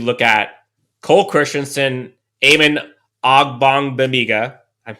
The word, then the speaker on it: Ogbonnia: So after that, I think you look at Cole Christianson, Eamon Ogbonnia, I said it right finally, Damon Lloyd, and Andrew Brown.